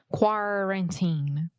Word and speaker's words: quarantine: time quarantine quarantine okay the first syllable is where we are having some issues quar quarantine yes the first sound specifically sometimes you're saying car like a car Kaku but you want to say quarantine perfect yeah so this